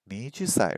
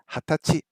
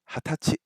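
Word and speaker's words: はたち: And I was thinking, nijusai, right? According to Japanese 101, it is hatachi, hatachi, for 20 years old. No other number, just 20. Hatachi, hatachi.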